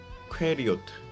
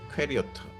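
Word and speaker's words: קריות: 원어 발음으로는 뭐 정확하진 않지만 어 퀘리오트 퀘리오트 뭐 이렇게 읽을 수 있는데 어이 뜻이 마을들 또는 성업들이라는 어 복수형의 의미를 갖고 있습니다.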